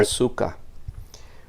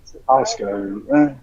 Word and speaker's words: Asuka: Asuka.